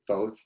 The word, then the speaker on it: Thoth: studied the way of, he's been pronounced different ways, but I'll say Thoth. He's also been pronounced Thoth, and we're quite sure how to get his name right, but he is one